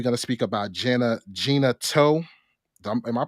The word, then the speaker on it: Gena Tew: uh then we're going to speak about Jenna Gina toe am I pronouncing her her name right Gina yeah Gina too okay and we got a couple of other